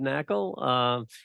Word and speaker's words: Knakal: The K is silent, Knakal.